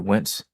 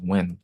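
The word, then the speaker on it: Nguyen: It's pronounced Win. I found out recently that it was pronounced Win, I think.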